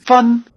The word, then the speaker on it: 分: 分分 Notice that the word for "cent" is "fēn" with a high tone and the word for "copy" is "fèn" with a falling tone.